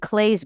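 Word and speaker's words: Claes: role so creepier um there's a guy named claye bang who was in a show called bad sisters clus Claus bang well they say his name is claye that's how you pronounce it oh okay c l a es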